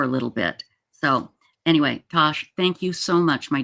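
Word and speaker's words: Tass: But it's pronounced Tosh.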